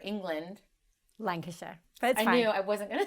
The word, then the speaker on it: Lancashire: mind for business after leaving her hometown in lanc shire england lancashire i knew i wasn't going to say it